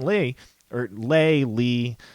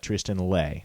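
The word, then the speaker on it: Tristan Leigh: He said he pronounced it Tristan Lay, so that's what we're going to go with for now.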